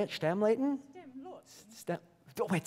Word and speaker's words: Stämlåten: Stämlåten.